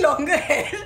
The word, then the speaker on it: Langer: yeah yeah with my auntie yeah got the pronunciation right longer good enough longer okay by the way guys